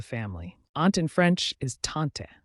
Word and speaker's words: tante: Aunt in French is tante said as taunt ants often Provide support